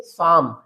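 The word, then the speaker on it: psalm: P letter भी silent है। L letter भी साइलेंट है। तो इसको हम रीड करेंगे साम।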